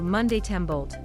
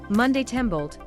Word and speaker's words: Montembeault: out of their seats monty monte they yelled it evolved into monday tembolt monday tumbled perfectly pronounced in french and belted out in